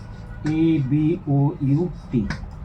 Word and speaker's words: about: Now, for example, the word, say, A-B-O-U-T, about. The word about has two vowel sounds. The first weak vowel, the schwa vowel, this one, and then if we transcribe it, it will be something like this.